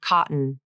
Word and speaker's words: cotton: Here is the stop T in the word cotton. It has a stop T in the middle of the word.